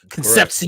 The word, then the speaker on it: Concepcion: That's exactly how you pronounce his last name, too. Concepcion.